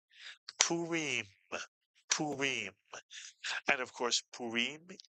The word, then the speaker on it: Purim: The first syllable is poo and the second syllable is re mitsuyan. The re with the hearing followed by a final mem is re. You put the word together and you get purim.